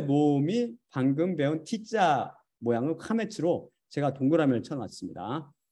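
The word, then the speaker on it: קמץ: 그 왼쪽에 영어 대문자 T자 모양 것도 동그라미를 제가 쳐놨는데 카메츠, 어떤 사람은 카마츠라고 발음해요. 아까 그 사람은 카마츠라고 발음하잖아요. 카메츠라고 부르며 아 발음을 표시합니다.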